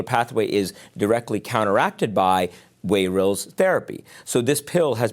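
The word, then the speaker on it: Wayrilz: by the FDA of the United States called wayils. W A Y R I LZ is how you spell it.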